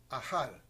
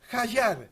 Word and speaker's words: Hajjar: Hoy tenés la gentileza de invitar a Ajal. ¿Así se pronuncia? Hayar. ¿cómo estás?